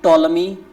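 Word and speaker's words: Ptolemy: आई एन वाय एंड टोलमी टोलमी की spelling बोलना बिल्कुल है टोलमी पी टी ओ एल ई एम वाय पी टी ओ एल एम वा इसको टोलमी बोलते हैं हा टोलमी मेंशन द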